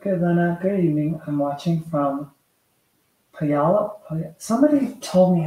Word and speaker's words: Puyallup: I'm watching from Puyallup. Somebody told me how to pronounce that.